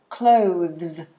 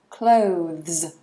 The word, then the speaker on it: clothes: let's get started so clothes really important to get this pronunciation right we have the th so the tongue is between the teeth and this becomes a zed sound so let me show